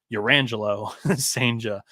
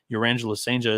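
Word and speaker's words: Cijntje: I believe that the J's are often pronounced with H, so I think it's Urangelo Senja.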